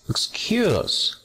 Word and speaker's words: excuse: Next, excuse. Acento, segunda sílaba.